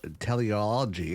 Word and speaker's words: teleology: pondering life's purpose and developing his theory of teleology I think that's how it's pronounced t-e-l-e-o-l-o-g-y anyways uh the idea that everything